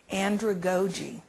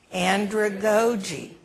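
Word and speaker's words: andragogy: okay is this a new word to you Andre GOI I want you to say it with me Andre GOI okay let's spell it a n d r a g o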